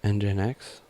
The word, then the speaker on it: Nginx: basically, you're installing, you need to install, the Nginx server, that's how you pronounce it, server, on the thing that's actually going to be a server.